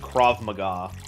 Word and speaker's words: Krav Maga: Oh, and I guess at the risk of sounding like a know-it-all, but for future reference, I believe it's pronounced Krav Maga.